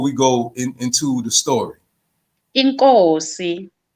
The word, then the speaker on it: inkosi: Inkosi. Nkosi, Yes. So when I speak of King Shaka, we say Inkosi Ushaka. Nkosi Uzaga. Yes, Inkosi Ushaka Zulu.